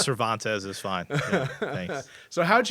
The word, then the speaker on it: Cervantez: the u.s god my guest today is cervantes am i pronouncing that correctly you are yeah is it